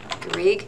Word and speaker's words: Garrigue: So again, my name, Garrigue. If you have a hard time remembering Garrigue, here's a little hint, it rhymes with intrigue.